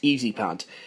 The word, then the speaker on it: EZ Pad: I'm going to meet the Americans halfway and say that EZ pad should be pronounced easy pad.